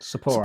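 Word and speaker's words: Sapporo: And Sapo what's it pronounced? Saporro.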